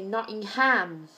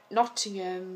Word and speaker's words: Nottingham: the Americans they say Nottingham so it's like noting space and ham that that that it's not um one word in the same say Birmingham so they they emphasize the ham so it sounds like